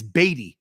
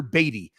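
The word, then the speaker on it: Badie: pronunciation sheet no no the pronunciation sheet provided by the Denver Broncos is batty Tyler batty but apparently ahead of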